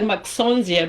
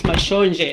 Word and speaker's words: Mashonje: I know it looks like Maxonje, but it's Mashonje.